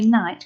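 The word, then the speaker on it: knight: k letter in here remember we don't say tonight we just say night because it's a silent letter isn't it so this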